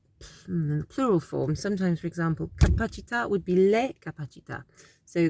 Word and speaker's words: capacità: So when that happens, you kind of put emphasis. It's a kind of short vowel sound. Capacità, capacità, la capacità. And in the plural form, sometimes, for example, capacità would be le capacità.